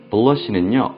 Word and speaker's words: blush: 여기서는 여러분들이 싫어하시는 R 발음이 들어가 있고 여기는 L 발음이 들어가 있습니다. brush 하고요, 얘는 솔이고요. blush는요, 얼굴을 붉히게 하다 라고 하는 뜻을 가지고 있습니다.